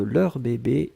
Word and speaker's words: leurs bébés: demande la prononciation de leurs bébés et leur bébé est la même oui oui oui oui parce qu'on ne fait pas d'eux on ne fait pas de liaison puisque bébé commence avec une consonne donc on n'entend pas